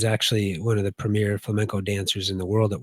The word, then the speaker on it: flamenco: But no, I don't know anything about flamingos. In fact, I was going to ask you, Sean, what is it? Is it pronounced flamingo or is it pronounced flamingo or whatever? Flamenco. Flamenco. Flamenco. Okay. Flamenco. Yeah, it's actually a gypsy